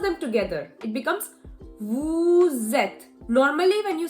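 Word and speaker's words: vous: them together it becomes Vu zet normally when you say Vu we don't really pronounce the S but because the next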